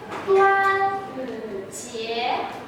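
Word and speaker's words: 端午节: It is Dragon Boat Festival, and its Chinese pronunciation will be 端午节.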